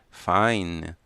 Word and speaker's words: fine: O estudante B responde Fine. A letra N não fecha os lábios, E não precisa ser pronunciado.